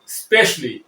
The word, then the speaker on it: specially: আমরা স্পেশালি না বলে বলতে পারি স্পেশালি।